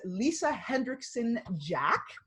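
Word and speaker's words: Lisa Hendrickson-Jack: Her name is Lisa Hendrickson Jack. I believe I pronounced that correctly.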